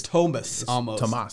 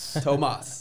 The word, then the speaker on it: Tomas: __ ] yeah i i do not have an h in my name okay my name is thomas tomas yeah i'm half puerto rican believe it or not